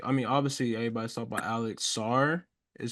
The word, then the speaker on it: Sarr: I mean, I feel like obviously everybody's talking about Alex Sarr is how you say his name.